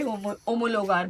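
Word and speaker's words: homologar: यहाँ पे होमोलोगार बोलते हैं उसको, एच साइलेंट होता है स्पेनिश में, वैसे मैं बताना भूल गई थी।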